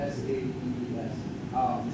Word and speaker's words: sabes: And this gives us good visual evidence that the last S was not pronounced when this artist was doing this.